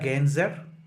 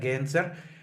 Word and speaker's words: Gencer: Leyla Gencer, or I read that the right pronunciation, so people in Turkey, you are free to correct me, should be like Leyla Gencer, kind of that sound, Leyla Gencer, would be the right way to pronounce her last name.